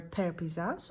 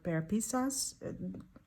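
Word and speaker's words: Pear Pizzazz: Then we have the color Pear Pisas or Pear Pisas. Some people pronounce it differently.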